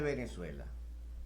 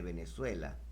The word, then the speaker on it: Venezuela: divino del nombre de venezuela está escondido en las sagradas escrituras debemos preguntarnos desde cuando venezuela escribes tu nombre con la violenta pero lo pronuncia con be labial en este orden de